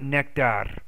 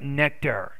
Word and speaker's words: nectar: has a sweet nectar not nectar but nectar nectar so be careful of your r's i want you to